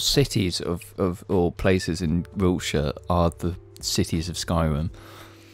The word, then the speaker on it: Wiltshire: It makes you sound like a twat, and it's just pronounced Wiltshire.